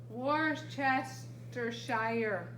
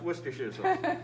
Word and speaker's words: Worcestershire: one more time worcestershire sauce but it says worse chester shire oh i'm sorry i pronounce it wrong worship no it's pronounced worcestershire actually you know what i think i'm gonna